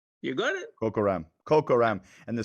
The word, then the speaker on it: Kokaram: Say Coca-Cola. Coca-Cola. Kokaram. Kokaram. You got it? Kokaram.